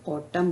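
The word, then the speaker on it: autumn: और according to rule M के बाद अगर एन आता है तो एन को हम साइलेंट करते तो एन जो शब्द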